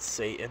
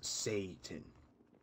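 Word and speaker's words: Seitan: You just threw a thing down there and said, this is Satan. It wasn't even pronounced like the Satan you know.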